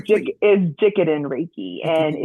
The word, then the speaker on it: Jikiden: pronounce that correctly, please? Is Jikiden Reiki, and Jikiden it's Reiki.